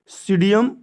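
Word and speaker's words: Psidium: वैज्ञानिक नाम होता है सीडियस का वैज्ञानिक नाम इसका इंग्लिश में देखेंगे अलग है थोड़ा सा पी साइलेंट है पी एस आई डी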